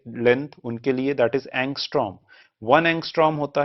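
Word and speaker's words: ångström: That is एंगस्ट्रो। वन एंगस्ट्रो होता है 10 की power - 10 metre. So this is pronounced as एंगस्ट्रोम।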